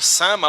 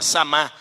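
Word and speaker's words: Samá: E depois um indivíduo chamado Sama ou Samar. Tem uma tradução que coloca um acento lá, fica Samar. Eu aprendi a pronunciar dessa forma, Samar, no verso número 11.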